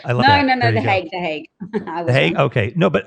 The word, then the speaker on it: the Hague: No, the Hague.